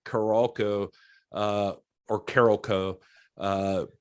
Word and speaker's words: Carolco: uh or carolco uh it's caral co according to everyone that I've heard say it I didn't know for years how to say it until I was watching behind the scenes on this and that it's apparently Carol Co Carol co uh so